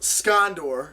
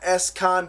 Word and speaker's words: Scondore: First and foremost, my YouTube username is pronounced scondor. It's not Escondor or any other crazy variation I I get thrown all the time.